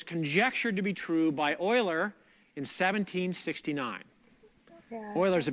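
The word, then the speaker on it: Euler: positive integer Solutions you Oiler you're so mean Oilers say pronounced Oiler you're right Oilers yes yes theorum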